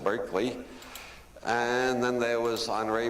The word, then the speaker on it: Berkeley: And then there was Bishop Barkley after whom this city is named only we don't pronounce it Barkley anymore. We pronounce it Berkeley.